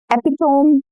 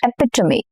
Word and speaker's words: epitome: Epome. Mhm. Incorrect. Epitomy. Epitomy. Okay.